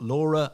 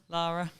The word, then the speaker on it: Lara: and we've now got Laura with us that's the correct way of pronouncing is it Laura Lara Lara okay I was focusing on